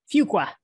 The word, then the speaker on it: Fuqua: professor at Duke University's, is it pronounced Fuqua? Fuqua.